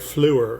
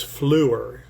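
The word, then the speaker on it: fleur: Grandeura Rondo has that very soft French uh uh accent to it like flu for flower. Um, in English it's flower, in France or French it's flu. F l eur r.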